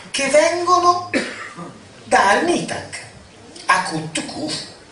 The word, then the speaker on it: Khufu: La piramide di Cheope, oggi come oggi, nella traduzione letterale accadica, viene detta Akat Kufu. che evidentemente questo signore mi pronuncia con la vera pronuncia, Akut Khufu, che vuol dire pietra accadica.